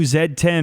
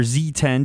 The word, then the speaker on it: Z10: borrows a lot from the new zed10 or Z10 depending on where you are regionally how you want to pronounce that because it has the